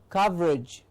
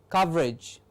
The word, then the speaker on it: coverage: e as a suffix so when age comes after c-o-v-e-r it's not coverage but coverage it becomes sort of like an ige edge coverage the pronunciation becomes from age to edge coverage please remember this age